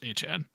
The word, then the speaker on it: Achane: And he came out and said he wants to be pronounced Achane.